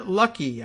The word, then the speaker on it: Luckey: Republican Florida Congressman Matt Gaetz eloped to Southern California on Saturday in order to marry Ginger Luckey. I guess she pronounces it Lucky.